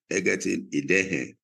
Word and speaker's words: Egerton-Idehen: Jane Nkechi Egerton-Idehen. All those pronunciations are correct or wrong. Correct us, or maybe pronounce your name correctly. They're right. You got them right.